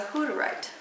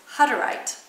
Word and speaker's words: Hutterite: There is an artist who grew up as a Hutterite. A who? Or actually, it's pronounced Hutterite.